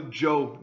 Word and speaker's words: Zhou: Now we're going to talk about the Zhou dynasty. A ZH is pronounced Zhou. The Zhou dynasty ruled from 1045 to 256 BC and was the longest lasting dynasty in Chinese history.